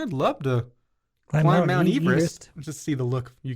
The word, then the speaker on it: Everest: The correct pronunciation of Mount Everest is Everest. I have never heard that. It's named after Sir George Everest, a surveyor from Wales, and that's how his last name was pronounced. Everest.